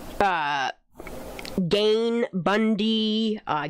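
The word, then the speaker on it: Gein: writings of like uh gain Bundy uh Gan is how people pronounce his name Ted Bundy um just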